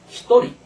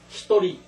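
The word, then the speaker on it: ひとり: 한 명을 할 때는 히토리 두 명은 후다리 세 명은 산님 그래서 여기서는 중요한 거는 한 명과 이제 두 명 이것만 발음이 다릅니다 히토리 후다리 이건 외워 놓을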